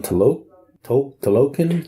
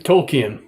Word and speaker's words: Tolkien: Tolkien. Tolkien.